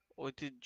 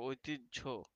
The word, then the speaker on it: ঐতিহ্য: দেখো উচ্চারণ তারপর ঐতিহ্য ঐতিহ্য অনেকে উচ্চারণ করে কিন্তু উচ্চারণটা ঐতিহ্য এটা আমাদের ঐতিহ্য ঐতিহ্য